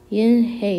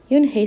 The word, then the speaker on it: Unhei: in hey shadow ralph everyone tried to say it yin hey in hey yoon hey said her name again slowly and clearly soon the kids began to say it better even mr kokoda's they